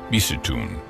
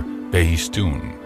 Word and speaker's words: Behistun: century BC on a rock in Iran called Behistun, or Behistun. In the Persian section of this trilingual inscription, Armenia is spelled Armina.